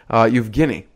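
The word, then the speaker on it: Евгений: I'm excited to introduce today's guests we have you-jin levin and if it's if you're a true Russian you'd know how to pronounce his name you've Guinea and he was one of the first investors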